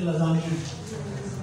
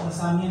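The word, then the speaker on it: lasagna: इसमें कुछ Italian French word भी आपको जिनकी प्रोनाउंसिएशन देखनी पड़ेगी, जैसे लजानिया, लजानिया, लसानिया नहीं, लजानिया।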